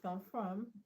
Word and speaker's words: confirm: Confirm is a word. So is on the second syllable.